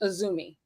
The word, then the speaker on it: AZM: just so like it's spelled azm but it's pronounced aumi AUM Sor just no no it's fine it's